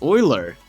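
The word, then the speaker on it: Euler: here anything that's fer even though it's actually apparently pronounced Oiler I don't like saying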